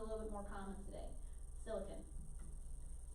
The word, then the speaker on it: silicon: No, I always heard it pronounced silicon growing up. Some people say silicon now. So that's fine as well.